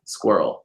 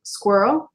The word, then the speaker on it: squirrel: wrong with squirrel that's that's one of the funny words that a lot of foreigners can't pronounce for some reason it's so easy well yeah well you're